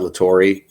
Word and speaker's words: La Torre: everyone, my name's Todd La Torre, and it's actually pronounced, or what did I say? I said it's pronounced nothing like it's spelled or something. I said it's LA capital TORRE.